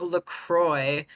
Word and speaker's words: LACROICSZ: It's pronounced LaCroix.